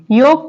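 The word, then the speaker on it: yolk: next word है योक योक में L pronounce नहीं हो रहा है क्या बोल रहे हैं हम लोग योक ओ क्या है एक वाउल है मैंने आपको बताया था उसके बाद उसके बाद जो एल आ रहा है वो साइलेंट है जैसे वर्ड है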